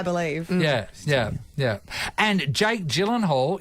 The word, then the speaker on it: Jake Gyllenhaal: yeah yeah yeah and Jake Gyllenhaal is Jake Yan Halo cuz it's Swedish not say G but I also have